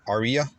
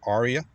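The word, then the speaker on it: Ariya: in 2023 is the niss on Aria or Arya depending on your pronunciation preference and it ranges from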